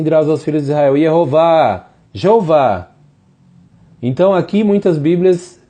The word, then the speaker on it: Jeová: Ali Isaías, ele escreveu as seguintes palavras que Deus disse: Atem edai neum Yehová. Vós sois as minhas testemunhas, é a pronunciação de Jeová.